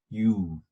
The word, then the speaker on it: ewe: EWE가 있어요. EWE. U라고 발음하는데 암양을 말합니다. U, E-W-E. 내 발음이 당신이란 U하고 발음이 똑같죠.